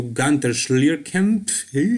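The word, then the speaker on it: Günter Schlierkamp: Here you can see him posing next to Gunter Schlierkamp, that is how you pronounce his German name.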